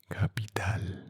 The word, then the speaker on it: capital: So, as you can see, in English, the pronunciation is soft, capital, capital. And in Spanish, some consonants and sometimes some vowels could be a strong pronunciation and some accent.